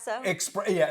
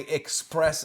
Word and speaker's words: espresso: Espresso. An espresso. Yeah. Now, and you're coming from a guy who mispronounces things all the time, but when I hear people say express or whatever, especially, I Yeah.